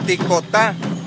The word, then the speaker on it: ticotá: Ahora, cuando es el soque de Tuxtla Gutiérrez, se pronuncia ticotá, que significa lo mismo, gracias. O sea, ticotá en tuxleco, soque tuxleco.